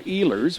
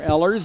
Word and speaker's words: Ehlers: And for Addie, we'll call her Ehlers, which is the correct pronunciation. I've watched a couple of our games on other Strive channels. One channel they were calling her Ellers, and another one they were calling her Ehlers.